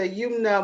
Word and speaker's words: Youmna: And I believe I'm pronouncing it correctly, Youmna.